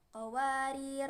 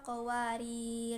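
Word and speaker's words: قواريرا: Maksudnya kalau mau wasol ataupun waqaf, alifnya tidak dibaca, jadi meniadakan sifat alif. Jadi kalau mau waqaf bacanya seperti ini, qawarir qawarir gitu.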